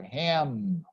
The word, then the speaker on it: ham: em final song always every time you see a final em remember to close your lips and pronounce it here ham then there are some